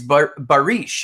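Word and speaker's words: barış: and you're in Turkish your name means peace did you know that it's barish is how you say it and it means peace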